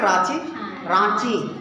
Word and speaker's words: रांची: अच्छा, रांची लिखते हैं, रांची, उसका होता है उच्चारण क्या, रांची, रांची बोल देना, रांची। अच्छा, इंग्लिश में आर एन लगाता है ना, रांची, कहाँ जा रहे हैं, रांची, या रांची, नाक से, थोड़ा लग रहा है नाक से, रांची, या